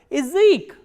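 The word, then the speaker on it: язык: e, like in word Ezek, Ezek. As you can listen, that ya here is not pronounced as ya, but e, Ezek. Why? Because this ya is in an unstressed position.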